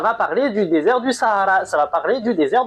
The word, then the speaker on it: Sahara: Je le prononce à l'arabe parce que je fais ce que je veux, ok? En gros, Sahara.